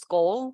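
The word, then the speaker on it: Skål: or skull International which is s-k-a-l it's actually pronounced skull so it's means cheers in uh I think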